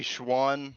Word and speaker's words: Schwann: oh schwann is it am i pronouncing that right schwann you can call me schwann uh sean was my father oh okay i'll go